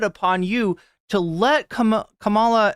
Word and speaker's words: Kamala: you to let Kam Kamala I almost said cila this has gotten into my head I forget who mispronounced her name is Camila but it's it's incumbent